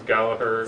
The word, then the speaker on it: Gallagher: Okay, the Irish is Gallagher. Second G is silent.